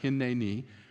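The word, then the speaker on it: הִנֵּנִי: When you add the suffix ne on the end of hine, you get hine, ne, ni. I got to say it right, hine, ni, which literally means, here I am.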